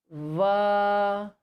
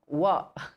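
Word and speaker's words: व: Now there is this letter called va. Yes, please repeat. Va. This letter va is pronounced with the help of upper teeth and the inner part of lower lip.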